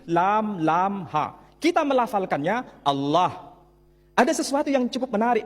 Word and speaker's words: Allah: Tidak ada seorang pun di kalangan masyarakat Timur Tengah ketika menjumpai istilah alif, lam, lam, ha dibaca Allah. Tetapi mereka serempak menyebutnya dengan pronunciation Allah.